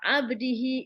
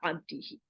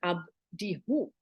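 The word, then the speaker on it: عبده: Why not abdihu? Why he and not who? The pronunciation is smoother, right? So who is he? But he is also in Arabic is he. It's strange to say abdihu, doesn't sound so good, but it's abdihi, his slave, right?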